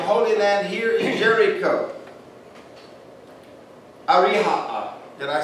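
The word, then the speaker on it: أريحا: Ariha'a.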